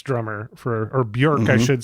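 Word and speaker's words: Björk: He was Bjork's drummer or Bjork, I should say.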